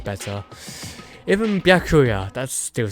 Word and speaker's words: Byakuya: Bakua. It's Bakuya.